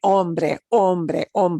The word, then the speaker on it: hombre: gets the ch sound, but an H by itself without that C in front of it will be no sound at all. The one true silent letter all the time, right? Hombre, man.